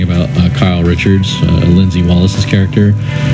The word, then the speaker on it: Kyle: Like you say, the character Lindsay, played by is it pronounced Kylie or Kyle? Kyle Richards.